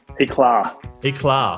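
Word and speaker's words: Éclat: Eclar Eclar like a little like tar a little bit means yes it's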